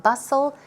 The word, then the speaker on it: bustle: hate the hustle and bustle of city life here the tea is not pronounced house so bustle pronounced says su 8 hu SS le hustle and